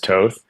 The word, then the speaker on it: Toth: It's like how do you pronounce your last name? It's like it's toth in the American way but it's actually toth and sorry it's toth and European but I go by toth just because growing up it was so easier